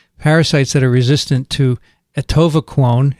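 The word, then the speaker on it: atovaquone: that are resistant to etova clone is that how you say it adivaquone no no no no not the latter one you're doing well can't transmit from mouse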